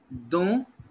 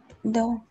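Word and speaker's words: dans: Dont, a, avec, pour. Is it clear to you? Yeah. C'est clair. Why? So which one is for inside and which one? This is for inside. Don.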